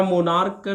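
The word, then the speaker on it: monarch: आफ ए में आ skin कर दीजिए या मुनार कर दीजिए है और याद रखिएगा इसको मोनार्क पढ़ा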